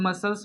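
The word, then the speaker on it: muscle: मसल्स में भी सी silent है, तो इसे हम लोग मसल पढ़ेंगे। क्या पढ़ेंगे? मसल।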